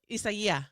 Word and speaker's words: Isaias: Isaiah. It's like that. It's It's like that acai berry thing. It's ISAIS.